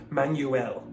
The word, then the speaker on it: Manuel: No, I'd probably go man, M-A-N, and then go well, W-E-L-L, or something like that.